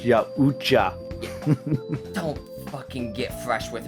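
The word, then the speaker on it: Yautja: That's pronounced Yaucha.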